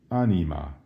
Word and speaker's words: anima: one's own soul how do you say soul aneema how do you say my soul unnie mamaia